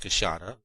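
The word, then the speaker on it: queixada: Whereas I did wish to get some specimens of the big white-lipped peckery, the kashada, which is pronounced kasada, of the Brazilians, which would make our collection of the big mammals of the Brazilian forest almost complete.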